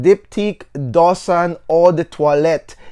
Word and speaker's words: Do Son: than the edp so dosan right here dosan is really the right way to pronounce it however if you want to call it doosan then that's up to you that's okay all